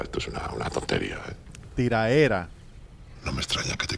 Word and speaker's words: tiraera: Sí, tiradera. Tiraera. Tiraera. No se dice tiradera.